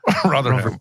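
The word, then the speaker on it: Rotherham: years growing up in Ro rham did I get that right Ram I'm trying to pronounce it like you now yeah rham rotheram R cool so borrow Time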